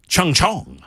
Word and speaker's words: Chungcheong: So, it's South Chungcheong. Something like that. like I'm making fun, but I'm not making fun. That's the name of the province. A recent festival at the University of South Chungcheong province has sparked controversy over the sexual objectification